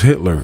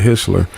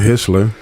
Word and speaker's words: Hitler: nobody I think the only name he actually mentioned was Hitler and he pronounced it wrong he said hisler but he did some